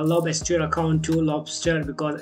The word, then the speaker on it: Lobstr: I'm saying uh lob as your account to Lobster because it's a same pronunciation so that's for the video and if